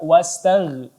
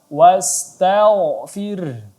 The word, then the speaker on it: واستغفره: Ya, kita baca tebal tidak dibaca wastagh, tapi dibaca tebal. Wastaghfir.